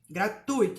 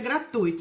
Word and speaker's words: gratuito: e outras coisas entretenimento a palavra gratuito não tem acento gratuito e a pronúncia é gratuito nada de gratuito por aí e o outro problema